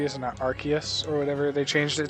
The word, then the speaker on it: Arceus: prefer arkansas but okay now eventually the story goes they change that pronunciation uh because of the the name arse within it and british people were having a laugh about it being so close to ass so they said oh